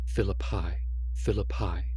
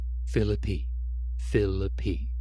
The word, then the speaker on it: Philippi: I had been pronouncing it Philippi, but they pronounced it Philippi.